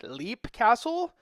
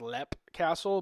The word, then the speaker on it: Leap Castle: And we're going to dig more into this as we dig into our topic of, it's spelled L-E-A-P, Leap Castle, but I guess it's pronounced Lep Castle, but, from our neck of the woods, we say Leap.